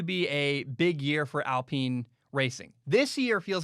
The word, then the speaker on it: Alpine: that leads me to alpine uh it's not alpine it's spelled like alpine for from america you're like huh the alpine f1 team no no no no i watched the video they clarified many times it's pronounced alpine it's a team that was formerly known as